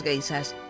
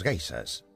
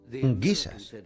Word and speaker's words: geishas: Los soldados oyeron hablar de las geishas, guisas, como ellos pronunciaban, y creyeron que las chicas que se acostaban con ellos en los parques eran guisas.